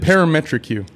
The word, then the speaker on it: ParametrEQ: The BlueCat Audio uh par how do you pronounce that? Parametric U.